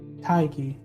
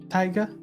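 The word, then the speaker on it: Tadhg: but without the r taiki tiger tiger tiger tiger tiger it's pronounced like tiger but without the r tiger tiger huh irish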